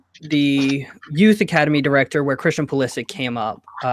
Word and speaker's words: Pulisic: Is it Pulisic, like sick at the end? So he pronounces it Pulisic.